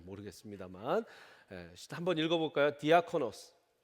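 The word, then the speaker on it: διάκονος: 디아코노스. 이 디아코노스가 영어화가 돼서 디건이 된 거예요. 비슷하죠?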